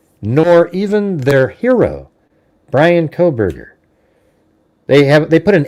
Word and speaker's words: Kohberger: Not Kohberger, everybody. It's Kohberger.